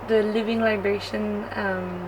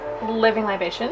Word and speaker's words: Living Libations: And I'm trying the Living Liberation. I always say it wrong. Living Libations?